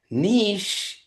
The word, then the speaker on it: niche: Um and then he said niche rhymes with kiche. It belongs in France.